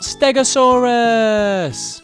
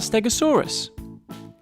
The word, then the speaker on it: Stegosaurus: to learn all about stegasaurus how do you say that again stay go saw Russ can you say it with me stay go saw Russ so what do we know about stegasaurus it was found in